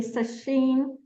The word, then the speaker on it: Sacheen: Am I pronouncing that correctly? Sasheen Kat.